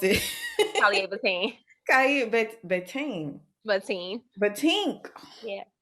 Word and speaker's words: Calleea'Vatein: Calleea'Vatein. Bateen. Vatine. Batink. Yeah. So think about, like, my grandmother's name is Ernestine. Everybody call her Auntie Teen. Teen.